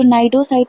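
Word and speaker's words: cnidocyte: अब ये जो नाइडोसाइट और नाइडोब्लास्ट है ना, इसको हम बोल रहे एन से हैं, बट एक्चुअल में इनकी स्पेलिंग सी से शुरू होती है।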